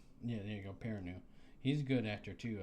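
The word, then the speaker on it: Perrineau: Uh Peranu. Yeah, there you go. Peranu.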